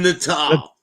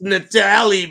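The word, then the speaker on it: Natale: you and doesn't even know how to say the name natal Nal it's Natali bro look at his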